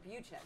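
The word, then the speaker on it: Butschek: My mom's maiden name is Butch, and it's spelled B-U-T-S, but and then Czech, C-H-E-K. So it's like that. Yeah. But it's Butchek.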